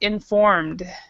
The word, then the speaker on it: informed: it right the gals you need to actually pronounce the d but you don't pronounce the E so it's informed informed informed okay um